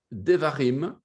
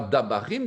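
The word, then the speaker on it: דברים: Et le quatrième, le livre du Deutéronome, Devarim, vous avez vu que Devarim, c'est le dabar. Le dabar au pluriel. Et ce n'est pas dabarim, c'est devarim. Donc, il y a déjà une modification de la vocalisation.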